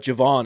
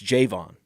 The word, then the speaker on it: Javon: It's not Javon, it's Javon. Javon. I like the pronunciation of the first syllable. J, like the emphasis on the J.